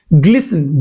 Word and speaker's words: glisten: Glisten g l i s t e n. It's a verb. T is silent and it means something